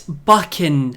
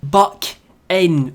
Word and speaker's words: Buchan: It's Buchan. Buck-in. Rhymes with...